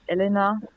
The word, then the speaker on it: Elena: We're going to kick this all off with Raven featuring, is it pronounced Alana or Elena? Okay. Well, in Germany, you would say Elena.